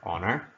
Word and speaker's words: honor: for him know that there's a little sound at the beginning of honor so it should be an